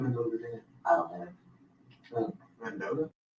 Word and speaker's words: Mendota: Mendota?